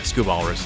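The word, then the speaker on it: Scubalis: scubas I guess yeah scub Alis is how you should pronounce it both those words have the this uh softer a all right if this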